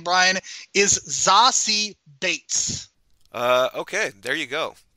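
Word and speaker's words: Zazie Beetz: this movie the way that she pronounced her pronounces her name Brian is zasi Bates uh okay there you go uh I don't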